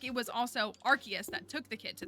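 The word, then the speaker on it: Arceus: people don't know um is that how you pronounce archus that is how the Pokemon company pronounces it I so strongly prefer arus but the official pronunciation is archus oh there's a duck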